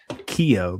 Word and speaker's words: Keough: Keough, by the way, I think is how you pronounce that.